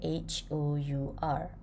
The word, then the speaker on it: hour: Ejaan dia H-O-U-R. So, bunyi dia macam mana? Hour. Hour. Kalau nak cakap 1 jam, kita akan cakap an hour. Okay? H tu ada tapi dia silent. Kita tak bunyikan dia.